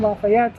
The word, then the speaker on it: Lafitte: The pirate in question is John Lafitte, or John Lafayette. I think Lafitte is the proper pronunciation.